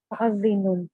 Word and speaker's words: مؤذن: Anybody want to help out the pronunciation of the second word? مؤذن. It's Mu'azzinu. Mu'azzinun.